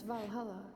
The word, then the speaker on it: Valhalla: I was always told that Valhalla is where all the great warriors go. I like how I pronounce it the Swedish way instead of the English way.